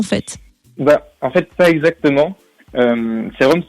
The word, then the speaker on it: C-ROM: Serum, c'est le mélange entre le CD-ROM, qui représente la musique en fait, et le sérum, donc S-E-R-U-M, parce que sérum, ça s'écrit C-R-O-M, donc c'est pour ça.